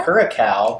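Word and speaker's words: Curaçao: Curacao, blue curacao, which is a relevant color.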